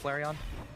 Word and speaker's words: Flareon: maybe a little more once he evolved into Flareon thank you now I will never mispronounce it again I've saved it there we